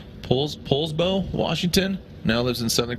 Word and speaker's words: Poulsbo: He is from right here in, I believe it's pronounced Poulsbo, Washington.